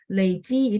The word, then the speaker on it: 累积: Tapi kalau nada 3 itu artinya terkumpulkan. Ya, 我们说累积. Nah, di sini aja ya. Dengan huruf Mandarin yang sama. Persis kayak di modul kita bacanya nada 3. Leiji itu artinya terakumulasi, terkumpulkan.